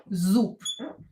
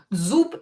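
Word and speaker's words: зуб: consonants let's verify consonants too na premiere um Zoop Zoop is a tooth Zoop but instead of bay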